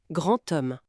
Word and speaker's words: grand homme: Oui, le D final, quand il est lié à une voyelle, il se prononce souvent comme un thé. Par exemple, un grand homme. On entend grand homme.